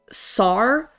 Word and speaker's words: sar: In Sumerian, the number 3,600 is produ pronounced sar.